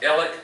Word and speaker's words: Alex: Well, we'll have Ellick, which is spelled Alex, but Ellick.